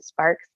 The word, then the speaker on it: Sparkes: Ys e is and then Sparks s p a r KES so that's my website